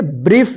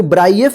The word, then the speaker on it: brief: देखिए यहां पे BRIEF, इसको क्या पढ़ेंगे, ब्रीफ, इसको ब्राइएफ नहीं पढ़ेंगे, ठीक है ना, ब्रीफ पढ़ेंगे।